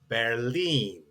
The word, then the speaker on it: Berlin: And then when we are doing our travel, and the capital of Germany is that we know in English as Berlin is actually pronounced auf Deutsch Berlin.